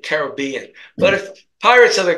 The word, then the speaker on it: Caribbean: of the Caribbean actually I believe it should be pronounced Caribbean because you if you're if you're not sure the pronunciation you accent the penultimate syllable which would make it Caribbean but if Pirates of